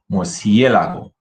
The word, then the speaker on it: murciélago: Listen to the difference and practice so you can understand where to put the emphasis in the word.